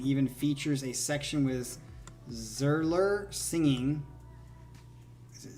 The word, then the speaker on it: Zierler: so here we go it's zealer okay zealer zealer is how you say it all right let's go